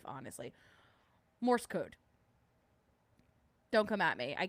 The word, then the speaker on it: Morse: message is for the Morris code or not Morris. I keep saying Morris. Mor uh Morse. I've I've said it wrong my whole life, honestly. Morse code.